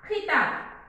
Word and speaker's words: खिताब: खिताब तो यहाँ पर हम प्रोनाउंस करते समय अच्छा गौर से कॉन्सेंट्रेट कीजिए कि मैं किताब कह रही हूँ या खिताब। सो यह किताब और खिताब यहाँ पर डिफरेंस देखिए प्रोनाउंस करने में, लिखने में भी अलग है और उसे प्रोनाउंस करने में भी डिफरेंट साउंड आता है।